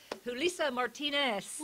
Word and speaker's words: Julissa Martinez: I'm sitting here today with my new friend, Julissa Martinez. Did I say that right? Thank you, Rita, for pronouncing it correctly.